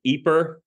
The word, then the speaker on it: Ypres: He then ends up back in his hometown of Ypres, all these weird kind of French names in this area. This is Y-P-R-E-S, and I believe it's pronounced Ypres, which was his hometown,